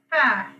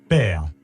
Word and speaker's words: père: The next one is père, pronunciation is pear. père, père, Pear.